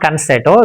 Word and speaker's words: concerto: It's not concerto, it's concerto.